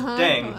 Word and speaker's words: 땡: Pronunciation of Ddaeng is similar to thang, which is the slang of thing in English.